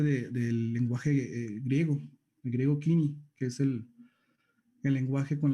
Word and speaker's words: Koiné: En ese griego Kini. Koiné le dicen muchos, pero realmente la pronunciación es Kini o Kini.